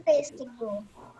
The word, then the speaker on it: pêssego: Olha, a sílaba mais forte que recebe o acento. P. P. E ele é fechado, ó. P. Não é pé.